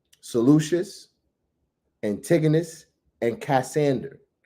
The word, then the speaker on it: Antigonus: Seleucus, Antigonus, and Cassander, right? Huh? Right? You said you spell it out? He said slow it down. Slow it down now. Thank you. So Ptolemy, Seleucus, that is Seleucus, Antigonus, that is Antigonus, and Cassander, that is excuse